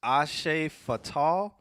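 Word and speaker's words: Hace falta: He said it's pronounced Ashe Fatal. Ashe Fatal. But it's spelled HACEFALTA.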